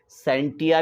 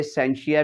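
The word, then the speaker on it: scientia: एन टी आई ए सेंटिया भी लोग इसको कहते हैं सेनेट भी लोग कहते हैं सेंशिया भी जो भी स्पेलिंग क्योंकि अब ये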